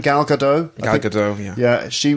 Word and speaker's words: Gal Gadot: Gal Gadot?